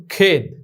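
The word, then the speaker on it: خود: ঠিক এখানে খা মাখা, এখানে ওয়াও আলিফ এর ওয়াও এর উচ্চারণটি আসেনি, খামাখা। যেমন খেদ, খে ওয়াও জের খে, তারপরে ইয়ে ডাল খেদ।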